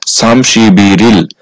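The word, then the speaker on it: 삼십일일: আর ইল হচ্ছে তারিখ আর এই শব্দটার সঠিক উচ্চারণ হবে সামসিবিরিল সামসিবিরল 31 তারিখ।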